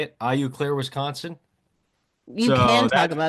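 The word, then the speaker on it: Eau Claire: IU Claire, Wisconsin.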